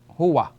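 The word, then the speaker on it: هو: So we have hu and wa. Put them together, we have huwa.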